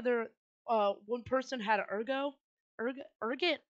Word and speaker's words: ergot: Ergot. That's how you pronounce it. Ergot.